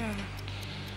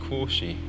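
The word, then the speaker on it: Quarshie: I think it's pronounced Quashy or Quashy.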